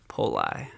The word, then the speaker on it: Poli: The correct pronunciation is Poli, but the locals call it Poli. Poli.